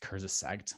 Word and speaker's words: Kurzgesagt: I think it's pronounced Kurzgesagt, but really cool little vignette.